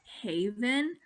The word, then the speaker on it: Haivan: We're We're Haivan, and honestly, okay, it's supposed to be pronounced Haven because highway to heaven, you know what I'm saying? But everyone says it wrong, so we basically just adapted Haivan.